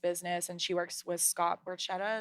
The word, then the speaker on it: Scott Borchetta: And then there's another girl that owns her own like stylist business, and she works with Scott Borchetta. Is that how you say his name? Yeah. Yeah.